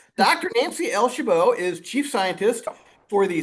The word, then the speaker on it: Chabot: Your last name is pronounced Shabbo, right? It is. Yes. Okay. Good. I I I hate getting last names wrong. All right. Dr. Nancy El Shabbo is chief scientist for the space exploration sector.